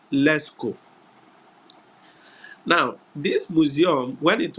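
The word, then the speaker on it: Lascaux: a s c au ux but it is pronounced leco now this Museum when it was discovered uh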